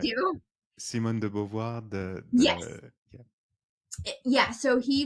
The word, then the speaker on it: Simone de Beauvoir: Simone de Beauvoir, Yes. yeah. Yeah, so he wrote a book, which I can't pronounce the name, called The Second Sex.